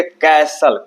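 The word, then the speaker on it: castle: एल ई इसको बोलेंगे कैसल कयकर solar इसमें जो है टी साइलेंट रहेगा। टी लेटर साइलेंट रहेगा और इसको बोलेंगे कैसल।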